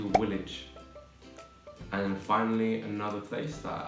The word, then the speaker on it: Woolwich: And many people call it Woolwich. It's actually Woolwich.